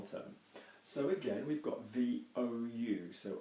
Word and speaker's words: vous: So again, we've got V-O-U, so are we going to have vu or vous? Vous, well done, because vu is seen, yeah, or the view.